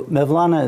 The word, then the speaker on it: Mevlana: So Mevlana is the Turkish pronunciation of Molana.